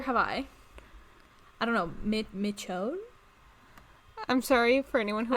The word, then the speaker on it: Michonne: it pronunciation for her as someone who has watched the walking dead for many years um the pronunciation is michonne um and then willow